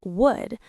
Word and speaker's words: would: Now, when we say the full word would, we usually don't pronounce the L very strongly. It sounds like wood, like the material from trees.